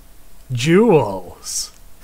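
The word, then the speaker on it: Gewels: Jewels is spelled with a G. G-E-W-E-L-S. Jewels.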